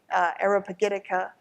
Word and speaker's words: Areopagitica: gonna read for next week Milton's famous speech Arabic etiqa am i pronounce it correctly ish which is defending the